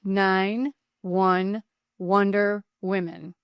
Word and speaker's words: 911der Women: That's pronounced 9-1 Wonder Women, a nonprofit organization that's transforming the landscape for women in public safety.